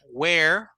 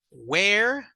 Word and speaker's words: where: no se pronuncian igual la palabra Where si ustedes me mi boca se abre un poco más hacia los lados verdad Where Where do you study